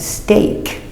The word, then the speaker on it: steak: Many different pronunciations. Look at each word. Example, break, using the long A, break. And steak, A.